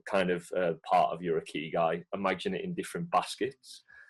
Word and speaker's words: Ikigai: Ikigai. So it's spelled Ikyigai.